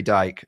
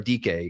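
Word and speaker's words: Dike: My number one is Chimeri Dyke, or DK, excuse me. It's spelled Dyke. It's DK for the Tennessee Titans.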